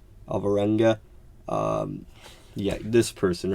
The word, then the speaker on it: Alvarenga: Hollywood, and drummer Sandra Alva-Goreta. That is definitely not how you pronounce it. Alvarenga.